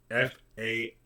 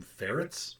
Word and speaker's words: farad: I had a student make a mistake once and called them ferrets, like the little Weasley animals. Do not. Just do not. It is farad.